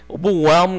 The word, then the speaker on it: overwhelm: overwhelm 같은 단어는 이렇게 H 발음 혹은 L 발음 같은 게 잘 안 나는 게 특징이죠.